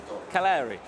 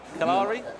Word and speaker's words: Cagliari: If Roma, Napoli, Juventus, you'll have to help me with my pronunciation here of... Mina, Jari Mina. No. Let me go for it. Is it Cagliari? Cagliari?